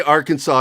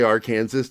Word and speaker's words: Arkansas: make some history together i don't say arkansas i say our kansas just to annoy people